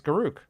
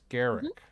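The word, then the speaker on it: Garruk: Um but it's spelled G A R U K. Um and you would think it's Garoo. Um but it's Garrick, right?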